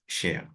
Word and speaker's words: cher: in French right and despite whatever form it takes it's always pronounced share however depending on the